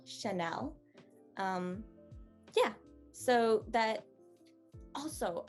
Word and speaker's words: Chanel: that's a rule um generally european languages don't have a very tangy sound to them they go and flow in one register so this one is sha nell chanel um yeah so that